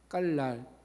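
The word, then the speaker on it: גלל: 히브리 원어가요. 이렇게 읽습니다. 맡기다라고 하는 단어를 깔이라고 읽습니다. 깔 되게 쉽죠? 안 잊어버릴 것 같죠? 깔.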